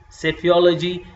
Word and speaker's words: psephology: There you will P and S is coming together, so you will say psephology.